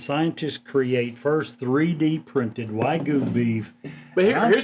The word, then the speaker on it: Wagyu: Wagyu. Am I Yeah. pronouncing that correct? Yeah, Wagyu.